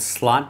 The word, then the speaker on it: Slot: uh anyone know Dutch would slot be pronounced slute no they're saying The Vow the O is a if you know your IPA symbols the O is pronounced like bot or off so it is slot is it Arn or ar it's